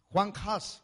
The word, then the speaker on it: Juan Hus: Así que respéteme dice Juan hus Juan hus así así se pronuncia él fue quemado también